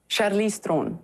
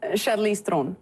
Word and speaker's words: Charlize Theron: How do you actually pronounce your name? Charlize Theron. That's so much sexier. Say that again. Charlize Theron.